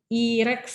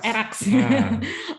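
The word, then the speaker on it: ERACS: Ini agak lagi booming juga akhir-akhir ini mengenai metode IREX ya dok ya. ERAX. Oke, ERAX bacanya ternyata.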